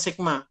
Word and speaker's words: sigma: Ya, itu namanya sigma, bacanya sigma.